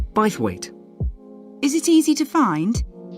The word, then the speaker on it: Bythwaite: held in bythwaite Hall sorry how do you spell that b y t h w a i t e bithwaite is it easy to find I'm not very